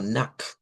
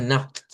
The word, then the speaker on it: Nacht: Podríamos hacerlo como una K y una T y sonaría algo como Nacht, Gute Nacht. Pero otros dicen, no, es mejor hacerlo con el de la G, Nacht, como más como G, Gute Nacht, Gute Nacht.